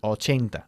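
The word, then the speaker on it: eighty: We emphasize the second syllable of 18, 18, and the first syllable of 80. De acuerdo. 80.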